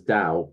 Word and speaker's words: Tao: Roman right so I I have to say it as Dao but I'm I'm allowed to spell it with a t because that's more easy